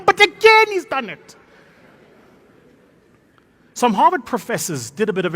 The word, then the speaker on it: Harvard: professors harvard it's not hawat it's harvard you must lift it at the end harvard the d is